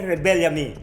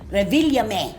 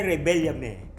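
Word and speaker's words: Revillame: Hindi natin to ipagpapatuloy kung mali ang pagbigkas ng apelido Willy Revilame. Sir Willy Rebellame. Mali pa rin. Sir Willy Rebellame. Me E yon sa dulo. Revilyame Sir Willy Rebellame. Ayon o.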